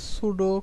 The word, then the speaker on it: pseudo: তো সেটার নাম হচ্ছে সুডো ক্লাস বা সুডো এলিমেন্ট। আপনি যদি সুডো সিএসএস লিখে সার্চ দেন, বানানটা একটু লক্ষ্য করেন, এখানে এটা হচ্ছে PSEUDO সুডো, এটার বানান আসলে একটু অন্যরকম।